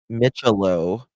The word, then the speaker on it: Micciolo: Corey, how do you pronounce his name? His last name. I don't want to say it wrong. Micciolo.